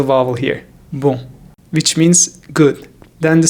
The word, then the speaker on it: bon: If you want to say bonjour in French, you need to first master the first part, bon. Bon. There is a nasal vowel here, bon, which means good.